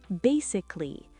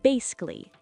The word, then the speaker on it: basically: Basically, but we often speak it fast as basically. Two syllables.